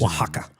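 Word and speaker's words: Oaxaca: the names they have like x's and Z's waka waka yeah how do you spell Waka it's like o a x a CA or some [ __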